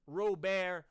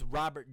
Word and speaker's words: Robert: have on this team Luis Rober Jr Luis Robert Jr depends on how you want to pronounce it I'm not going